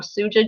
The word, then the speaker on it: Suja: many of you had have had a academic pronounce it wrong suja juice s-u-g-a-s-u-j-a juice so it's running really fast